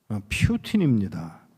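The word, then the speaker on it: Путин: 야, 소련에 소련에 여러분들은 푸 푸틴이라고 발음을 하더라고요. 퓨틴입니다.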